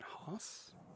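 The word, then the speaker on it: Jose: Is it uh Jos or Hos? Is it Hos? like the J is a like an H, a H as my Australian friends would say it.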